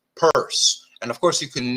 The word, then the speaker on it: Peirce: Charles Sanders purse yes it is pronounced purse like someone stole my purse or I hid my makeup in my purse right it's not Pierce so the first Telltale